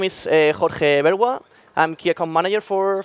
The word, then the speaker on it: Jorge Bergua: pronunciation is Jorge Bergua.